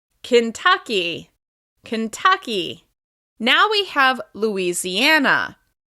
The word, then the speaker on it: Kentucky: This state is stressed on the second syllable. Kentucky, Kentucky, Kentucky.